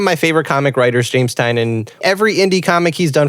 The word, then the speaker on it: Tynion: of course you should you know like James tinan I love Detective Comics did that you pronounce it I've been pronouncing it tinian I always thought it was tinian too I